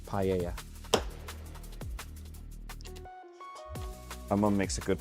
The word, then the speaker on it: paella: It's pella. That's nice. That's basically just rice, Spanish rice with um seafood and stuff. Pella is really nice. Pa paella, I think it's the right pronunciation. Paella.